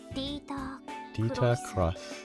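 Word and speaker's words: Crois: well known as Ilya Crush I'm gonna go with cross instead because that's how they're pronouncing in Japanese he's one of the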